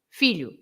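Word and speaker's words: filhó: Filho has an accent on the O. So you change everything. You shift the stressed syllable to the last syllable, And the O with the accent, it's no longer pronounced as oo sound. It's not a oo sound.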